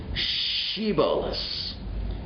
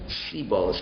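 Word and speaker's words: שיבולת: So they said, so pronounce for us the word shiboles. Can you pronounce shiboles? And all they could respond was siboles, because that's really what Ephraim was only capable of doing.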